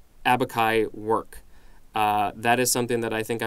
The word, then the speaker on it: abaci: Noun, plural, is abaci, or I believe it's a hard C there.